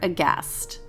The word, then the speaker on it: aghast: on instagram at cast underscore aghast remember there's a silent h